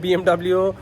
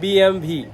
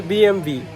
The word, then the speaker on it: BMW: এটা আর এরা এদের সামনে bmw কথাটা উচ্চারণ করলে এরা হাসে এরা বলে হচ্ছে বিএমভি লো bmw এটা হচ্ছে বিএমভি আর মার্সিডিes ব্যান্ড কে